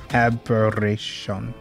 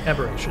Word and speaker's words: aberration: to turn red as I summon in admiration aberation I don't know how to pronounce that word it's that's right aberration all right so I'm going to cast that